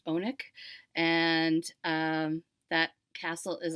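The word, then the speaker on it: Alnwick: spelled like almwick but he tells me it's pronounced bonik and um that castle is also in the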